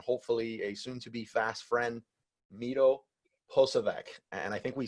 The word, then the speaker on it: Miro: group member, and hopefully a soon-to-be fast friend, Miro Posavec. And I think we spent like 3 minutes trying to get the name right. Miro, welcome to the show.